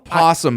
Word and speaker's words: opossum: possum, but it's spelled opossum. The Y and the O is silent.